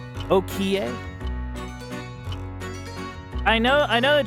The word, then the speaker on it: Okiie: Okier. Is that how you pronounce that? Okier. Oki.